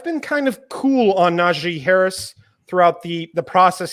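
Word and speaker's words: Najee: me for naji harris i've just learned how to say his name apparently so i emphasize naji but how i approach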